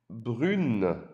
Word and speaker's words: brune: For the ladies, we have elle est brune. Elle est brune. Elle est brune. Now you can hear une, like the number one again.